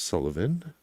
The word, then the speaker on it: Sylvian: Okay, there's the part of the transcript where we learn that James middle name looks like Sylvian but is pronounced Sullivan.